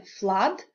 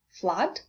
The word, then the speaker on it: flood: spelling with the help of double O as in flood and blood. And I'd like to draw your attention to these two words as from my experience, learners tend to mispronounce them. So it's flood, blood.